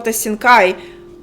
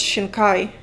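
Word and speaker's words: Shinkai: Damn, it was Makoto Shina Kai, which I used to pronounce Mako Shankai, but it's Shina Kai.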